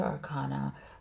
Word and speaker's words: Arcana: in the major Arcana the major Arcana or Arcane as someone as some people might pronounce it um is the major